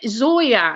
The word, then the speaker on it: Zoia: don't know what is your name well it's zoya yeah her name is zoya i